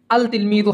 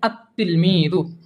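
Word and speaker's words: التلميذ: শুরুতে যদি আলিফ লাম যুক্ত হয় তখন এটি আল তিলমিযু হবে না, এটার উচ্চারণ হবে আত তিলমিযু।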